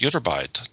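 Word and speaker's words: ytterbite: widgets these are hard i don't know how to pronounce it but yidderbyte you pronounced it correctly it's utterbyte discovered at a quarry in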